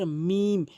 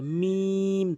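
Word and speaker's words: ميم: এরপর আস মিম। দুই ঠোটের ভেজা অংশ মিলিত করে উচ্চারণ করতে হবে। মিম। এভাবে টেনে উচ্চারণ করবেন।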